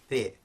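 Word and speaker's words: پ: So we don't have, for example, pe in Arabic, whereas we do in Urdu, which is the English P sound.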